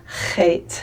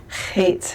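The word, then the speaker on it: חית: But try to take your tongue and hit it at the top of the back of your mouth very softly. It's not hard. It's not like sounding like you're bringing up phlegm or anything, but just a real soft Loch, Loch, and try to hit that sound in the back of your throat, okay?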